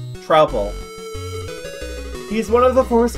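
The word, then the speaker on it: Troupple: Half trout, half apple! Pronounced like mouthful. Trouble.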